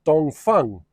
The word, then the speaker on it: Dongfeng: It's spelt Dongfeng, but it's pronounced Dongfeng.